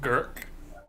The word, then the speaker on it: Gurk: I'll be playing Gurk. That will pronounce a little bit with like a grr, I guess, because Trogs apparently make their ribbit kind of sounds for their names.